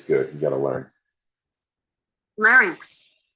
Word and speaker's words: larynx: you got to learn larynx larc larynx larc I've always pronounced that word incorrectly lyc so the lyc